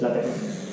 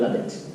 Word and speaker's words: LaTeX: El caso es que esa X, que parece una X, al final no es una X, sino que es una chi griega, y se pronuncia J. Así que, en conclusión, es LaTeX, no es LaTeX.